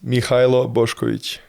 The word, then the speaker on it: Mihailo Boskovic: full name for everyone it's Mio bosich that's how we say in Serbian tough name name how